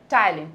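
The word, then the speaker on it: ptyalin: অবশ্যই এটার অ্যান্সার হবে হচ্ছে টাইলিন। পি দিয়ে হলেও এটার উচ্চারণ হবে টাইলিন।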